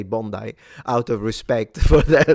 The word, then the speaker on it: Bondi: It's pronounced Bondi. Really? I read it the Italian way. I read it the Italian way because in Italian I would read it Bondi.